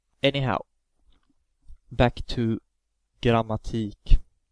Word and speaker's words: grammatik: Anyhow, back to grammatik. The E has the long vowel pronunciation because there's only one K following the E.